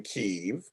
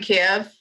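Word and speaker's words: Kyiv: the folks in keeve that's how we're saying it now because that's how they say it like yeah because it was wasn't it at one point kiev yes that was because the russians made it that way oh so now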